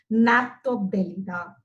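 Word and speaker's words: Gnathobdellida: Okay, so G is silent here. pronouncing this name as Naphtobdelida.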